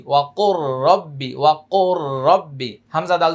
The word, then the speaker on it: وقل رب: কফ র পেশ কুর এখানে লাম উচ্চারণ হবে না ওয়া কুর র বা জবর রব বাজের বি ওয়া কুর রব্বি ওয়া কুর রব্বি হামজা